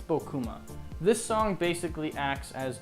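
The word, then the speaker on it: Bocuma: The second vignette is Bokuma. Yet another name that I don't know how to pronounce. Buma. Bo B O A. Bokuma. I think it's Bokuma.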